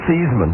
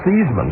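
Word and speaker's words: Theismann: His real name is Seesman. Yeah. Yeah. He actually changed the pronunciation of his name so that it would rhyme with Heisman. All right. When he wanted to win the Heisman trophy.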